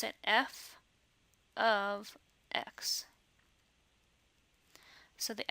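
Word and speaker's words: f(x): we don't actually pronounce it that way we pronounce it f of x so the F parentheses x parenthesis is really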